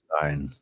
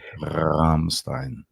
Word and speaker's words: Rammstein: Rammstein. Say it properly. Rammstein. You gotta roll that up. But in the back of your throat, though, not with your tongue.